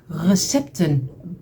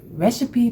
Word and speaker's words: recipe: We call it in the Netherlands RECIIPE box, but you call it recipe box, if I'm correctly.